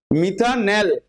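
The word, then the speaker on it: মিথানাল: জন্য তুমি কি লিখবে মিথানেল এল উচ্চারণ হবে এল যেটা এখানে আমি ফরমালডিহাইডের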